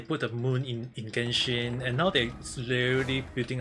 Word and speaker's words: Genshin: Chinese word original god but they used the gen uh the the Japanese pronunciation called Genshin.